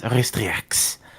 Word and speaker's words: Ristriax: It roughly translates to Ristriask. What? But Well, the proper pronunciation is Ristriax.